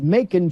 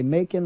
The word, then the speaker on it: Macon: It's not it is Macon, Georgia, like bacon. Okay, Macon like bacon.